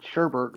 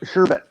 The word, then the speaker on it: sherbet: said sherbert why do we all pronounce it sherbert when it's sure back yeah there's no are we all do it we all do it I did all my life Oh survey no no sherbert no sure better sherbet yeah well everybody puts